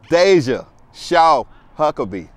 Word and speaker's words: Deja Shaw-Huckaby: Remember this name, Deja, Shaw-Huckaby.